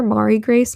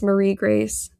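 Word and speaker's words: Marie-Grace: I've been calling her Mari Grace my whole entire life. It's Marie Grace. I just say it wrong.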